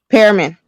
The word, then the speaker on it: Pearman: Parman? Here we go. This will work. No, I have it. I have it. Pearman. Oh, you said Pair. PE. Okay. Pear. Pearman. So Pearman.